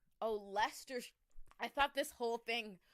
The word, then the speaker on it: Leicester: Leicester? Leicester. It's No. Leicester. Really? Yeah, that Leicestershire. that like 12-letter word? Leicestershire. Oh, Leicester.